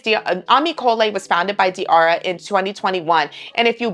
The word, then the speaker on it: Diarrha: But like I said, I have seen her pronounce it, Diara, so that's how I'm saying it. But anyways, Ammy Cole was founded by Diara in 2021.